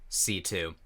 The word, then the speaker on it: C.C.: called C2 I mean it's spelled CC but they call her C2 so I guess that